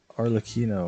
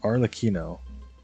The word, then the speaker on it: Arlecchino: Oh, we're gonna do dude, how do you pronounce her name again? It was Arlecchino or something like that. Yeah, Arlecchino.